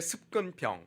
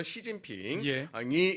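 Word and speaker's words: 习近平: 그것이 아 2010년대 들어서 중국의 습근평 중국식 발음으로 시진핑이 집권하면서 노골화된 겁니다 어떻게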